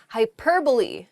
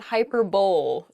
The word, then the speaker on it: hyperbole: often pronounced incorrectly this is funny i enjoy mispronouncing this first word the first word is hyperbole hyperbole um it's not hyperbole though it does sound very funny to say